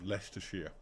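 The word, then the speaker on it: Leicestershire: America and in uh other European places his pronunciation um the one Springs to mind from this game is um leester sheia which is a county and there is a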